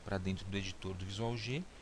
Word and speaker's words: VisualG: vamos trabalhar com um software chamado visual G tá ou visualg como alguns pronunciam tá esse software é